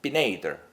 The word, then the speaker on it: Pineider: is a logo and the name pen Eider pronounced Binet either in Italian under that is the